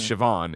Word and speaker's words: Siobhan: You know how bad I am with it, but like watch the HBO show Secession, and Siobhan's Oh. it's spelled the same way, but it's Siobhan, and they call her Shiv.